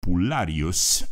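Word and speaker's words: pullarius: una victoria o un desastre Un hombre llamado pulus eso se escribe p u l l a r i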